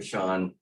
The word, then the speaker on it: Sean: Sean, it looks like Shane, but pronounced it Sean, the Director of